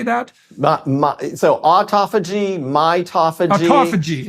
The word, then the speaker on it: autophagy: that again how do you say that so autophagy mitophagy autophagy it's and mitophagy okay so you